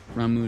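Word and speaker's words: Ramuh: portion of the icon Rama's Essence I keep saying Rama ramu they pronounce it by tuning with ramu not only changes the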